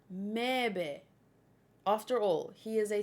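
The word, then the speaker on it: Möwe: It's German. It means seagull and is pronounced Mebe.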